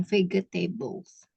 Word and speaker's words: vegetables: Jadi G-nya itu bukan dibaca G tapi J. Vegetables.